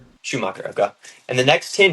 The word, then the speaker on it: Schumacher: Schumacher. Schumacher, okay.